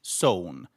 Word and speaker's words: sow: So, the pronunciation stays exactly the same.